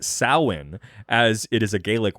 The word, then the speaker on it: Samhain: step on your toes but it's actually not pronounced same of course it's not i'm just a godless heathen samhain is is actually not pronounced that way but rather it's actually pronounced samhain as it is a gaelic word and thus